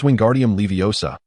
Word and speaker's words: Wingardium Leviosa: It's Wingardium Leviosa, and the Leviosa needs to be pronounced long and clear.